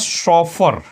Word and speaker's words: chauffeur: देख लीजिए यही स्पेलिंग होनी चाहिए, क्या? चेस्टिटी। और आगे एक प्यारा सा वर्ड है आपके पास, शॉफर।